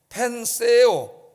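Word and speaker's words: πενθέω: 여기 애통한다, 이 말은 이제 펜세오, 세오는 그 영어로 말하면 TH 발음이에요.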